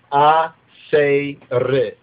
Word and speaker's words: Assir: Okay, so it's A-Se-Re. A-Se-Re. So if we were to spell it out right here, we have A-Se-Re. Now we can, this would be a sound, almost like Asher. Remember, there's Asher too.